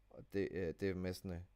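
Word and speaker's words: demesne: De Mesne, but it's apparently it's spelled domain.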